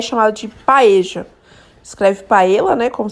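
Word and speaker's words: paella: espanhola eu particularmente adoro que é chamado de paeja escreve para ela né como vocês estão vendo aí mas se pronuncia paeja é um arroz com frutos do mar como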